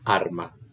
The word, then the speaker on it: arma: Porque en mi esquema métrico, yo sé que el dáctilo empieza con una sílaba larga. Entonces, sí o sí, la primera sílaba va a ser larga.